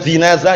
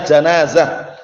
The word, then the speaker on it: janazah: Syaratnya apa saja janazah ingat-ingat bacanya Yang Keliru bukan jinazah ya janazah jimnya di fathah janazah itu mayit kalau